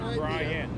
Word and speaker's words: Bryant: saying your name right it has a t in it is it right is it brian or brian bryant with the t all right so i